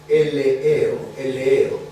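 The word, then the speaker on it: ἐλεέω: El primero es el verbo eleeo. Eleeo, como suena. E-L-E-E-O. Eleeo.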